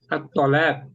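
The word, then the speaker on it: الطلاق: At-Tolak. Ya, At-Talaq. Ya, po itu pakainya ya. Oh, iya, kalau di sini bacanya ta jadi to.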